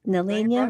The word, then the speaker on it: Nelliana: Nelliana rhymes with Gardine.